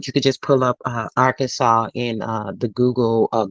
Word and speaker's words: Arkansas: the official pronunciation of Arkansas as having the final s be silent as it would be in French a dispute had risen